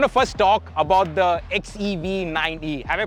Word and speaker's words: XEV 9e: We're going to first talk about the XEV9E. Have I pronounced that right?